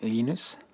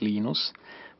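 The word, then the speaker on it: Linus: I speak Swedish it's lenus when I speak Finnish it's lenus when I speak English it's lonus and I really don't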